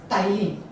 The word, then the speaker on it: ptyalin: is also called as ptyalin. The spelling is P-T-Y-A-L-I-N, P is silent here.